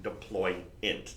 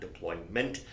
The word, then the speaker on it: deployant: you dual deployant class which by the way that is the correct pronunciation deploy in not deployment the class we referred to is a deployant class I just I got